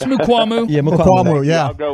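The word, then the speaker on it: Mukuamu: I still can't pronounce his last name. It's Mukwamu. It's Mukwamu.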